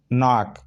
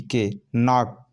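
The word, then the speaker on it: knock: नाक, के एन ओ सी के, नाक, नाक पढ़ा जाता है क्योंकि क्नाक नहीं पढ़ रहे हैं, क्नाक नहीं पढ़ रहे हैं, नाक। के को साइलेंट है क्योंकि एन के पहले है, तो एन के पहले हमेशा के क्या रहता है, साइलेंट रहता है।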